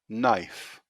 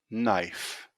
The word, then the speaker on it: knife: letter k knee knee no no knock knock knife knife and finally the letter w answer answer two